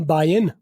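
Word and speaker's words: buying: एम बायंग in bulk की बजाय आई एम बायन बाय अब देख बाय इन मैं जी साइलेंट कर दिया बायंग का जी बोलो आई एन जी वाले जितने भी वर्ड होते हैं जी बोलो तो भी ठीक है साइलेंट कर दो तो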